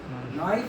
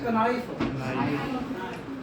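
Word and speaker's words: knife: नाइफ है कि कनाइफ है? तो कारण है कि इसे के क्यों नहीं बोल रहे? साइलेंट क्यों है? इसका क्या मुंह क्यों इसका बंद है? कुछ नहीं है, there is no scientific basis.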